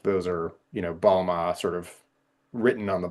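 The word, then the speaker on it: bağlama: It's B A G L A M A and it's got the sort of silent Turkish G in there.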